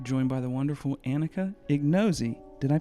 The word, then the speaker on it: Ignozzi: Today's episode, we are joined by the wonderful Anika Ignozzi. Did I pronounce that all right? Ignozzi. Ignozzi.